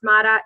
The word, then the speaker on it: Matta: Everybody wants to spell it, but it's not. it's Matta, Matta.